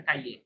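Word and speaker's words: Cailler: আপাতত এটা কাইয়ে, যেহেতু আমরা ফ্রেঞ্চ জানি তাহলে ফ্রেঞ্চ অনুযায়ী এটার উচ্চারণ হচ্ছে কাইয়ে। লো শোকোলা কাইয়ে এ সুইস।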